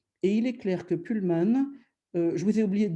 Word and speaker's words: Pullman: francis en disant pullman je devrais dire pullman parce que c'est l'homme qui tire un pool même si on si